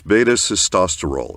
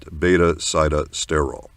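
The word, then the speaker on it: beta-sitosterol: So we've got a whole lot of people mispronouncing it now. It is beta cestosterol. It is not betaile.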